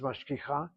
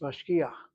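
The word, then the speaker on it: משגיח: You don't pronounce the word as mashkicha, it's mashkiach.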